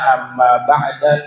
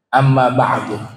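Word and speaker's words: أما بعد: sekarang sudah paham tu Amma ba'du bisa kita baca Amma ba'da Amma ba'dan Amma budun atau juga Amma ba'da atau Amma ba'du tapi dalam riwayat yang sering nabi ucapkan itu dengan didomahkan Amma ba'du Nah itu terkait eh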